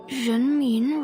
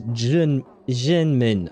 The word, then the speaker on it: Renmin: Buddha Temple, Jianshe Road, Renmin Road. Wait. She pronounced the R in... I would have said Renmin, but she said it as Zhenmin, I think, like a J sound. Okay, so R is J.